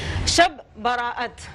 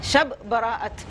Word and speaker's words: شب براءت: شب براءت, یہ اس کا صحیح تلفظ ہے. شب براءت, براءت کا مطلب ہے